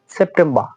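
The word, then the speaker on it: September: আগস্ট অগস্ট সেপ্টেম্বর সেপ্টেম্বর দেখুন এখানে বলবেন যে আর অবশ্যই আছে ব্রিটিশরা যদি কোন ওয়ার্ডের পরবর্তীতে শেষে সর্বশেষে যদি আর থাকে আটটা তারা উচ্চারণ করে না আর একেবারে উচ্চারণ করে না তারা তাই এখানে আমাদের প্রোনাউন্সিয়েশনটা হবে সেপ্টেম্বর সেপ্টেম্বর সেপ্টেম্বর সেপ্টেম্বর সেপ্টেম্বর এইরকম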